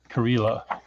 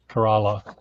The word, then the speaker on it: Kerala: information i don't know what is karila kerala you have to uh work a lot on your pronunciation of hindi words it's kerala kerala kerala kerala yes kerala is